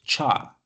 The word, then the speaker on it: char: that's why C++ is the data type called Char which stores the which tells that this variable